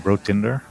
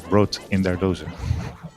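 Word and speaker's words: BrotinderDose: So people have been saying Brotinder mostly, but actually it's a German player, so you have to pronounce Brot in their dose.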